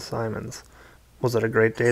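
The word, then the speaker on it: Symonds: while fending off Jeff rhymes with diamond Simons was it a great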